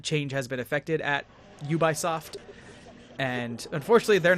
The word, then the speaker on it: Ubisoft: to put out yes you buy soft thank you mommy tudwig the iconic company that we all know is pronounced ubisoft and we're about to